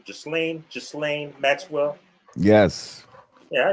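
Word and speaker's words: Ghislaine: let's segue into that uh how do you pronounce this fish name just lane just lane maxwell yes yeah he pronounced his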